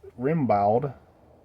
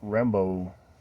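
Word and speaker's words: Rimbaud: that that French name it's spelled r i m b a u d which in English you might look at it and say it's remal but apparently in French it's Rambo something like that and uh so Leonardo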